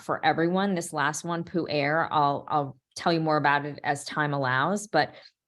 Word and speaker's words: pu'er: It's pronounced pu'er.